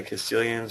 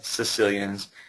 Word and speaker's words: Caecilians: They're called the Caecilians, or some people pronounce it the Sicilians.